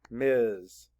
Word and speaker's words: Ms: the sounds better capital m s period Miz write it capital M s period next is